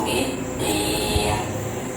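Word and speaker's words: بالدين: Yukadzibu biddin, dari bi langsung ke dal ya, dari bi langsung ditasdidkan ke dal karena alif lam di sini dihukumi alif lam syamsiah.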